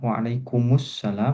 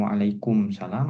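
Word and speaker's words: وعليكم السلام: ini sudah tahu ya ee maknanya apa kalau alasan kenapa yang tepat adalah waalaikumussalam bukan waalaikumsalam apakah sudah disampaikan di kelas ini di kelas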